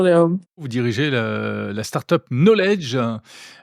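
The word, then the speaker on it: Nolej: Vous dirigez la startup Knowledge. Ça s'écrit N-O-L-E-J. On comprend qu'il y a un jeu de mots entre knowledge en anglais.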